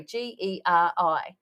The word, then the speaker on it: Geri: No, you call him Gary. Geri. Is how it's spelled, because he and I are now friends on Instagram.